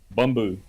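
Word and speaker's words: Bumbu: Bumboo. Bumboo. Bumboo. Bamboo is delicious. Spell that.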